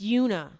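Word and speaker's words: Oonagh: It's Yuna, but it's spelled O N A G H.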